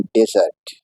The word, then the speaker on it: desert: एस ई आर टी इसे pronounce करते हैं डेजर्ट और यह इस्तेमाल होता